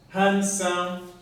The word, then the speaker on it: handsome: fat thin old small handsome allow me to underline this d which is a silent letter in the word handsome so we read sound